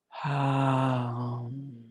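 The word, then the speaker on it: हूं: And hum is the throat chakra seed syllable. So hum. And on the hum, remember to put just as much emphasis on the M.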